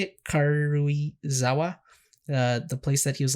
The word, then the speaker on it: Karuizawa: As far as the last episode, I believe the mythical traveling restaurant Kuruiza. How do you say it? Karuizawa.